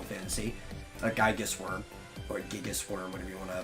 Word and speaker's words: Gigas: a Gigas worm, or Gigas worm, whatever you want to pronounce. I think it's Gigas because it's supposed to be a Greek word.